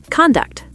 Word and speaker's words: conduct: Word number 15, conduct. Conduct, noun, behavior, versus conduct, verb, to lead or direct.